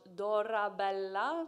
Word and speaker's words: Dorabella: up is dora bella pronounced dora bella double l give it a go lovely double l all right this is